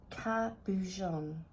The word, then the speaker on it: cabochon: is a cabochon Capuchin is a word of French origin pronounced cabujon and is normally a